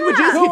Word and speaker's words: Wojcicki: Susan Wojcicki took who care I of Wilbur. So much. Please don't demonetize. That's how you pronounce that last name.